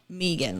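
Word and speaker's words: Meaghan: actually joined the military her name is Megan but it's spelled Megan like m-e-a-g-h-a-n yeah but Megan to me I'm like m-e-g-a right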